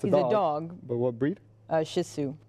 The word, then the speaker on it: Shih Tzu: Shih Tzu. Yeah. Okay. It's spelled funny. It does sound like shit, but it's not. I was thinking it sounds more like Sisu, like the coach or old player.